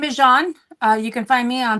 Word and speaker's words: Jaun: Would you please pronounce how you say your name? My name is Jaun.